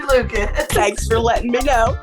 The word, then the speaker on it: Lukac: Lucas it's actually pronounced it looks like lucak but it's actually Lucas thanks for letting me